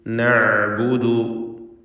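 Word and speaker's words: نعبد: ഖാലു നഅ്ബുദു, ഐനിൻ്റെ ഉച്ചാരണം പ്രത്യേകം ശ്രദ്ധിക്കാത്തുണ്ട്, ഇവിടെ മധ്യമാണ് അതിൻ്റെ മഖ്റജ്. അസ്നാമ, ഈ പദം നല്ലപോലെ ശ്രദ്ധിക്കണം.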